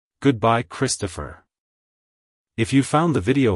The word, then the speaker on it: Kristopher: the end with a slight pause between the syllables like hello Christopher goodbye Christopher if you found the video helpful hit the